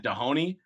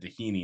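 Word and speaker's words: Doheny: in Dana Point so I was calling it dahoni and then my the chick that was cleaning up our room said tahini and I was like I was saying it wrong the whole time so um but yeah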